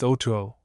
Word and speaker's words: Otu: Otu, he told me his name was, pronounced Otuo.